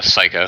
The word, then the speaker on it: Seiko: where Seiko, I believe, is it pronounced Seiko or Psycho? I'm not sure. Psycho. Psycho, yeah. Yep, Psycho. Kind of a sick name, not gonna lie. He's got a really cool name. It is. Is it spelled like the watches? Yes. Which is pronounced Seiko, if I'm not mistaken, which was what threw me off.